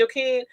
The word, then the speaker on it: Joaquin: Because Rock and, Joaquin or Joaquin, I think she called it. That's how it's pronounced, Joaquin.